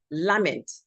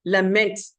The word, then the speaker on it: lament: I've often heard people say lament. Honestly, you cannot lament anything. You lament it. It is something that is lamentable.